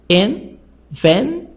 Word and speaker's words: invention: Invention. 3 parts, 3 syllables. But the stress on the second part, on part number 2, invention.